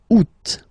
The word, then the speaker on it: août: And then here, two options because, well, two options are acceptable in French. The first one, you don't pronounce the final T. Ou. Second one, you pronounce it août.